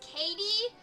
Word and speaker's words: Kayty: It's Katie, but it's spelled Kayty.